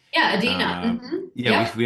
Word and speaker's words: Adena: Is that how you pronounce her name? Yeah, Adina.